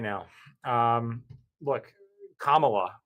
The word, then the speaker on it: Kamala: right now um look Kamala which is how I understand her name is pronounced um lost the last